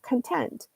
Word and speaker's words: content: word so for example if you say content and put the Highlight on the second syllable content then that means that you're satisfied you're happy with the situation as it is and you're you're you're satisfied with it you're content whereas if you put if you highlight the first syllable content then you have a